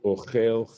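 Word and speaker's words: אֹכֵל: a verb, kagon kikol ochel chelev. For example, anyone who consumes fat. Ta'amo lamata, bakaf, the accent falls on the ultimate syllable, and in this case, this ultimate syllable is ochel, venakud kamatz katan.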